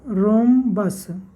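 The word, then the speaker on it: rhombus: देखिए रोंबस हम लोग इसको या पढ़ता है रोंबस पड़ते हैं यहां पर आ रहे साथ है एक साइलेंट है अगर साइलेंट नहीं रहता तो यहां पर हम ब्रह्म बस पर देते बट यह हम बस ने रोंबस है एच क्या है साइलेंट है तो एक साइड का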